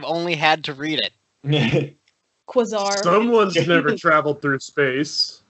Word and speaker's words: Quasar: on the list i don't know how to pronounce it it's quasar quasar yeah i've never had to say it i've only had to read it quizar someone's never traveled through space he didn't yeah